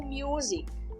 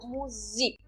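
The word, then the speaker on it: Musik: não é traduzido assim eu falo music eu dou eu dou entonação na segunda sílaba music ok Ok é dessa forma que a gente pronuncia Essa palavra não music como é em inglês music significa música em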